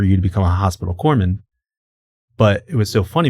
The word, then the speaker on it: corpsman: to become a hospital corman." But it was so funny because if you look at the way corman is spelled, it's spelled like corpseman.